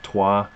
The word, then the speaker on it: Troyes: Can anyone explain to me the rules of a language in which Troyes is pronounced toi?